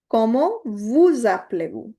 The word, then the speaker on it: vous appelez-vous: Como vous appelez-vous? Please note, this S at the end is getting liaisoned with the A, so that is why it is giving you the sound of za.